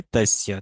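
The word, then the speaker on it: तस्य: যে প্রথম বাংলা লেখাচ্ছি, দেখুন, ত দন্তস্য জফলা। আচ্ছা, এইটা হচ্ছে তৈস্য শব্দ, তস্য, ঠিক আছে। তস্য, আমি এখানে টাইপ করে দিই, সমস্যা নেই। তাহলে তস্য, তস্য মানে কি, তস্য মানে হচ্ছে তার।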